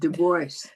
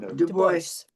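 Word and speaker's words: Du Bois: They pronounce it the boys. The honor was all there. Boyce. I never boys.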